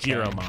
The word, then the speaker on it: Giromon: Not Gyromon? It could be Gyromon. G-Y-R-O? G-I-R-O. Oh. So that's why I went with Giromon. Gotcha. Because I know the word gyro, so I would have pronounced it with a Y as gyro.